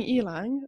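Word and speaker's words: ylang-ylang: I chose Ylang Ylang, as I'm told ylang, it's ylang. Pronounced.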